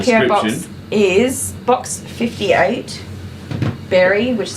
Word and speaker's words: Berri: So we have the PO box in the our PO box is box 58, Berry, which is spelled BERRI, South Australia, Australia 5343.